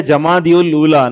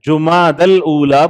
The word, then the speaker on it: جمادی الاولیٰ: بھی صحیح نہیں ہے، لوگ بولتے جمادی الاولیٰ، نہیں ہے، جماد الاولیٰ بولنا چاہیے۔ جمادی الاولیٰ وہ صحیح